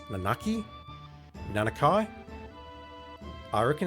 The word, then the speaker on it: Nanaki: the that I know I believe it's nanaki that's how I would pronounce it using the hugana but I don't have if that's correct or not maybe it's nanaki nanaki I reckon it's